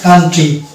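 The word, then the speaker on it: country: ইউ যেখানে থাকে সেখানে কিন্তু আমরা মানে ও উচ্চারণ পাই না যেমন হচ্ছে এখানে কান্ট্রি এই শব্দটা হচ্ছে কান্ট্রি তো ও বাদ দিয়ে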